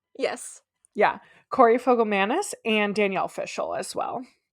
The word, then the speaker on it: Fogelmanis: oh I watched a video on how to pronounce it fogam Manis yes yeah Corey fogam Manis and Danielle fishal as well and she's still